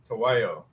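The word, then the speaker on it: Tahuayo: Tawayo.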